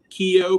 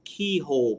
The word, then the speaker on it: Keogh: Remember the Keogh plans from way back, Gene? And people say, I want one of those keyhole plans. They mispronounced the name and think it actually said something else.